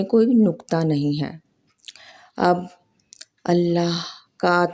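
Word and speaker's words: الله: منفرد موسیقیت رکھتا ہے، کیونکہ اس کے تمام حروف حلق سے ادا ہوتے ہیں، نہ کہ ہونٹوں سے۔ یہ الہی نام ہونٹوں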